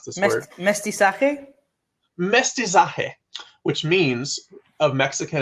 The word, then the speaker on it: mestizaje: How do I pronounce this word? Mestizaje?